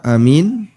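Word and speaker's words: آمين: tidak mereka beda pendapat yang ketiga kesalahan membaca Amin yang diperselisihkan bolehnya dan batalnya salatnya yang pertama Hamzah dipanjangkan mim di tasydid dan ada huruf ya Dan ini paling sering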